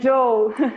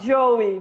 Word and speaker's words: Joe: you you pronounce it and joe not joey but joe not jerry jerry yeah i think